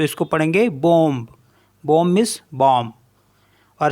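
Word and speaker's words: bombe: जैसे बी ओ एम बी तो इसको पढ़ेंगे बम बम मींस बम और सी ओ एम पी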